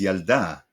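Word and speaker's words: ילדה: This is Yalda, a girl. And so is this, with the two vertical dots under the lamed. They represent a stop, splitting the word into two syllables, Yal and Da.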